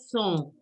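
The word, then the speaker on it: cent: And 100 is pronounced as song. Song. C-E-N-T. C-E-N-T. Song. Okay.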